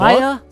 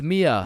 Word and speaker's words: Mia: Maya? Is Maya present? It's Mia.